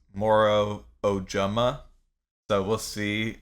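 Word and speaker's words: Moro Ojomo: Booker yeah okay so what I saw from the pronunciation guide is it's Moro ojama so we'll see how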